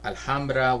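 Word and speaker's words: Alhambra: So that's why you have uh Alhamra which in LA you do pronounce the H.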